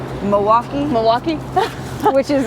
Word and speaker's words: Milwaukee: from Milwaukee yeah um am I supposed to pronounce the L I mean no in Milwaukee yeah okay you just want